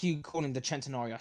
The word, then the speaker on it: Centenario: It's like you calling the Centenario Centenary.